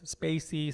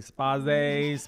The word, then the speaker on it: Spayse: some people say it's Spacey some people say spa phase father just spell it right exact just fella right you can say it however you like so guys we will